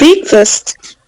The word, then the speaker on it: breakfast: Okay, so this is a sound at the first syllable and the schwa in the next one.